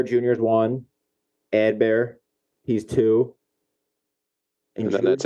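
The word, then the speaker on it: Adbert: know a little bit how do you say elsalay's first name by the way bad bear it's ad Bear right I think so not advert I would say Ad bear would not say Edward correct uh well the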